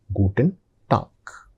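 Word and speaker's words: Guten Tag: So the pronunciation is gooden talk.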